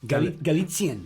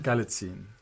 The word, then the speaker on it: Galitzine: I've written it I've phonetically as butchered well. it and many I've- times. Galitzine. Galitzine.